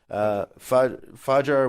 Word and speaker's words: fajr: mentioned this protest the great is at fajr pronounced fajr which urges the arabs participate in mass dawn